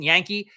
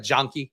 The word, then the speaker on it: Jahnke: work of PFF's Nathan Yankee, I think that's how you pronounce his name. It's spelled like Jahnke, but I think it's like Jonky. Might be Yankee.